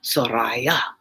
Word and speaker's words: Soraya: It's really Soraya and Shamsi and Shireen and Darab, but I make them American sounding.